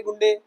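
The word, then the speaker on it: Guindy: उसके सामने नहीं बोल सकते राजीव गांधी काम गुंडे तमिलनाडु ऐसे नहीं बोल सकते वहां पर तो वो लोग इसको कैसे प्रोनाउंस करते हैं मेरे सर भी करते थे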